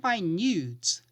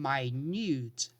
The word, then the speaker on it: minute: beautiful petite dress for the event the word minute pronunciation minut minut be careful not to get confused here